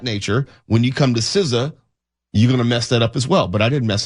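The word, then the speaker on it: SZA: We know SA is Siza.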